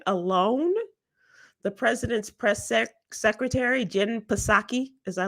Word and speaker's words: Psaki: As a matter of fact, today alone, the president's secretary, Jen Psaki, as I like to call her, it's Jen Psaki, I know. The P is silent.